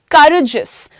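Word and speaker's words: courageous: करेजियस pronunciation क्या है?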